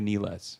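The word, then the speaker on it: Nilles: anuka hler no anuka NES anuka NES it looks like Niles but that's how you pronounce it I took German you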